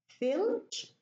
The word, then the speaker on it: filch: Filch becomes, it's deleted. The ta is deleted. Filch, filch, and the cha is reduced.